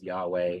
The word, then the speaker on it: Yahweh: Just a note on Yahweh, the pronunciation of Yahweh probably is Yahweh. It's true that the vowels in Hebrew are lost, but there is this push to make the name more mysterious than what it is.